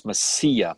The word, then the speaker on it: Mesilla: It's Mesilla, by the way. Mesilla, so I did not, I butchered it like I do Massachusetts.